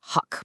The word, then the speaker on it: Huk: And it's pronounced Huck, by the way.